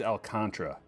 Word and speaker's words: Alcantara: It's they they say his name's Alcantra, but what about that A right there? It's just a silent A. I don't buy it. Should be Alcantara.